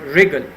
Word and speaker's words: wriggle: and the same word wriggle wriggle also means the same so in regal W which is written in purple the W that is silent 13 sheep lame lame